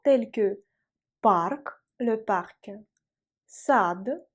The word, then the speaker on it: сад: La préposition «в» est également employée avec les mots tels que parc, le parc, sad, sad, j'écris D à la fin mais je prononce comme T, sad, le jardin et les, c'est le bois ou la forêt.